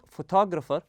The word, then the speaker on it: photographer: The word photographer has a stress in the middle.